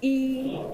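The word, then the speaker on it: 一: what they are one in mandon is called E it's pronounced e how do you pronounce two and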